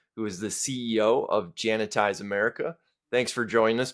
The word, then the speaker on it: Jantize: by Paul dorsy who is the CEO of jantize America thanks for joining us Paul thank you it's my pleasure make sure it's Jan ties one a one I one e everybody wants